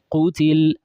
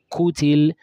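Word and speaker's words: قُتِل: Then when it takes dhamma too, qutil, don't say kutil and pronounce it with kaf. Kutil is a common error. So the major common error is people replacing qaf with kaf.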